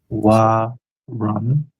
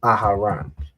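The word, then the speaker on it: Aharon: W run. Not quite. The second letter is off. Aaran. Mhm. Aharan. Right. So, aaran, that's the pronunciation.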